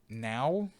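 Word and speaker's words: NAO: works yeah now robot n AO it's pronounced now is an autonomous programmable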